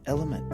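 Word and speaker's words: LMNT: chance L lemon not it's not French actually it's the letters l m n t and it's pronounced element oo element I got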